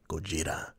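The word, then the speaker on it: Gojira: is godzilla himself or how he's supposed to be pronounced gogeta beautiful creature beautiful toy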